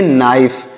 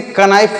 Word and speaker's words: knife: तो यहाँ पर के जो लिखा गया है, यह के साइलेंट है।